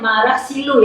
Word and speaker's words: Marah Silu: Sebenarnya, pengucapannya adalah Marah Silu, meskipun penulisannya adalah "merah silu.